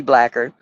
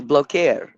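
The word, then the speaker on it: Blaquiere: In our language, it would be blacker, but it's blokeer.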